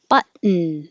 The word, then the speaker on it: button: Button. The same situation with the syllabic N. The N becomes its own syllable.